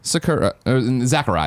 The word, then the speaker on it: Sakurai: Ultimate creator and director Sakurai. That's how you say it. Sakurai. You say it with a Z, though.